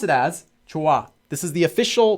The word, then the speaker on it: 좋아: They also just pronounce it as 좋아. This is the official pronunciation for the word. It's not casual. This is just how it's supposed to be pronounced. 좋아.